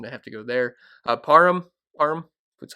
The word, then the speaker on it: Parham: Parham, that's how you say his name.